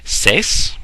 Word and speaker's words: Ses: seemed pretty cool uh again pronunciation CES s-e-s translates to the voice